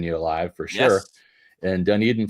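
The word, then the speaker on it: Dunedin: live for sure and dun Eden Florida or as my late stepdad used to say dun Den which was funny always crack me up as a kid but done eeden I know how to say it Bill Vincent prepping thanks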